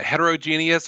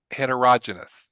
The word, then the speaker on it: heterogeneous: This word has a couple of pronunciations. It depends on it. You can you can pick uh heterogeneous or heterero heterogenous. Those are the two.